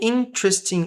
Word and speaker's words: interesting: So, interesting.